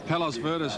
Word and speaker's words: Palos Verdes: Palos Verdes, number 16, to be ridden by Craig Williams. That is the pronunciation we just found out from Colin Little. Apparently it's a suburb of Los Angeles, and it's got a